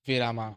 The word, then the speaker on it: Virama: Hi, I'm and this is Virama, my project for Open AI Build Week. Virama, or pronounced as Viram, means pause, break, or rest in Hindi.